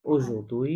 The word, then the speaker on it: aujourd'hui: আচ্ছা অযোগ্য হুই যে aujourd'hui not oui, অযোগ্য দুই আচ্ছা এইচ তো অজ সাইলেন্ট সবসময়, তাই না? তাহলে হ্যাঁ ডি হ্যাঁ দিয়ে হ্যাঁ এর সাথে দুই হ্যাঁ aujourd'hui অযোগ অযদুই হুম, জো